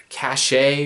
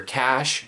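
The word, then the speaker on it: Caché: Cache or Cash? Yeah, Cash, but it's spelled C-A-C-H-E with like an apostrophe or whatever over the E at the end there.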